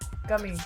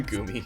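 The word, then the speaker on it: グミ: No, it was probably the gummy. The gumi. Sorry. They pronounce it like gumi.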